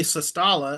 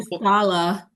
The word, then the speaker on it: Sestala: coming back, and Riley Sestala of Abbott won it a couple years ago. He's still Shustala. Shustala, sorry. Yeah, I always forget so many that. times. Yeah, I forget that Abbott pronunciation.